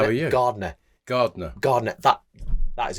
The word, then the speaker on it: Gardner: There's a D in there. Slap bang in the middle of my name.